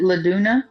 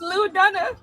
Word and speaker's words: Lou Dunna: Is it Laduna? No, it's Lou Dunna.